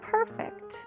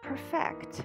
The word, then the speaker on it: perfect: Perfect is one of them. They look the same, but we pronounce them based on their function.